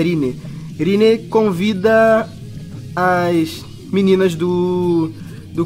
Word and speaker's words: Rinne: a pronúncia correta é Rine.